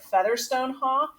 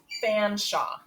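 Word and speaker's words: Featherstonhaugh: shop now i know his name looks like featherstone hawk but they pronounced it fanshawe i don't know why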